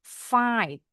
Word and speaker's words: fight: Berkelahi fight. GH-nya di tengah silent.